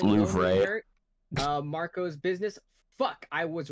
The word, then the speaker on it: Louvre: Actually pronounced Louvre.